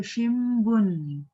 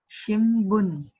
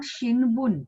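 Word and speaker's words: 新聞: pronounce it as So shimbun. Haine? Babi bu bebo. So that bu has come. Hence shimbun. So it is not shinbun, it is shimbun.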